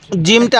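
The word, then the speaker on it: جيم: শব্দটার নাম কি জিম জিমটা আমরা শক্ত করে উচ্চারণ করব ফাটা নরম করে জিমটা শক্তভাবে উচ্চারণ করব কারণ জিমের পেটে কি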